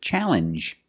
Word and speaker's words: challenge: the same sound um this word too challenge makes the same sound the regular n plus the ju sound challenge what is